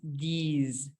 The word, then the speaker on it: these: este y este es these. ¿Sí? Esto es como que si me tragué una abejita y la abejita vibra. Zzz, these. ¿Sí? Esa S se pronuncia como Z.